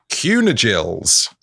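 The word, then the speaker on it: Cynegils: Kindgills pronounced roughly as kunigills.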